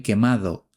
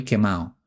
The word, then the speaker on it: quemado: Cuidado con esta expresión porque no decimos estoy quemado, sino estoy quemado, sin pronunciar la D, ya que se trata de una expresión muy informal.